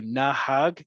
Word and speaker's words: nahag: people on the bus as opposed to na hag two syllables stick with nahag okay any last questions